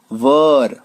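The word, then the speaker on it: were: दोस्तों कुछ लोग इसको वाज या वेयर बोलते हैं, वो गलत उच्चारण है। वो एक्चुअली बचपन में हम लोग सीखते थे, कभी कभार यूज कर लेते थे, बट इसकी जो रियल जो उच्चारण है, एग्जैक्ट जो प्रोनाउंसिएशन है, वो ये है वॉज, और इसको वर, वर वधु वाला जो वर बोलते हैं ना, वही वर,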